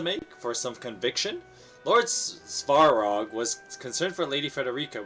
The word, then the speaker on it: Svarog: All right, Lord oh my God, Savrog's trust or Roland's safety. Excuse me. Svarog. Svarog.